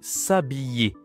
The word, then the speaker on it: s'habiller: Celui-là c'est s'habiller. To dress up. S'habiller. Attention la prononciation. Y habillé, c'est comme travail. s'habiller.